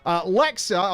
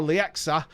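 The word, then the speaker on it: Leaxa: Lexa, or Lexa, L-E-A-X-A, Lexa, however you want to pronounce it.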